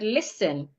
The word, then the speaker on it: listen: So in the first word listen, the T is silent.